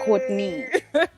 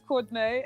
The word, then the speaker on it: Courtnaé: Is it You Courtnaé? did, but I wanted to give you like the DJ horns. Or is it Courtney? No, it's definitely Courtnaé.